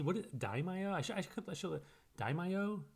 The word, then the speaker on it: daimyo: These words were first spoken by the daimyo, daimyo?